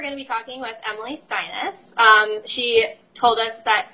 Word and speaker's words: Steines: be talking with Emily sinus she told us that her name is pronounced like your highness so that tells you